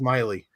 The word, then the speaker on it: Maile: It's actually pronounced Miley. Oh. Who? What? It's Miley, like Miley Cyrus. That's how it's pronounced. But everybody gets it wrong.